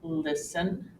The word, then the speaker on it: listen: the final exception occurs when T is silent and this is often when it comes after an s in the middle of a word for example listen Castle and fasten you